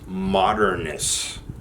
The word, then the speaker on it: MDRNST: Oh, it is pronounced Modernist.